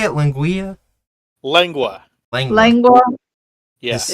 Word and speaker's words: lengua: Linguea. It just How do you say it? Linguea? lengua.